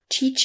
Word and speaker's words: Chichen: second word itz a I looked up how to pronounce it and I can't remember if I'm pronouncing it correctly or not teach and Itza it's almost felt like chicken it is it's very close yeah can we just